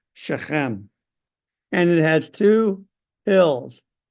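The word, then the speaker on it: Shechem: tribes of Israel and they go up to sheum this town right here it's actually pronounced sheim and it has two hills with it and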